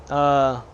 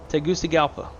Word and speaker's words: Tegucigalpa: Tegucigalpa. Tegucigalpa. That's how you pronounce the city.